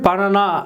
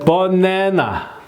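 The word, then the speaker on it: banana: 국립 국어원 외려 표기법 그다음에 말이죠에 버네나요 요거 조금 이렇게 바꿨네요 예 분명히 번 어 번 안너 번 안어 근데 번 내라고요 아로 안 하고 내라고 이렇게 했어요이 사람들이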